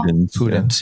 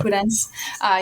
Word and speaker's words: Pudens: I don't know how to say her last name. Pudens, do you know? Pudens, yeah. Pudens.